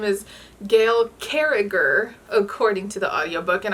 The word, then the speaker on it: Carriger: solas by gail carriger which i just realized like yesterday that i've been saying her last name wrong this entire time her name is gail carriger according to the audiobook